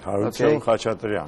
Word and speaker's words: Harutyun Khachatrian: I hope I pronounced the name yes, right. Yeah, Okay. that's right. Harutyun Khachatrian.